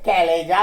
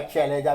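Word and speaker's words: chalaza: दिखाई दे रहा है, ये कैलेजा कहलाता है, या कुछ लोग इसका चैलेजा भी उच्चारण कर सकते हैं, बट मैं जो है वो कैलेजा ही उच्चारण करता हूं।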